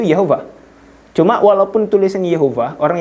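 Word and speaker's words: יהוה: Jadi di sini cara bacanya itu Yehovah.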